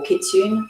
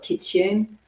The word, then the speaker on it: kitsune: i said i think the japanese call it kitsune i'm not even sure if i've pronounced that correctly but we'll go with that i think they pronounce the e at the end but don't quote me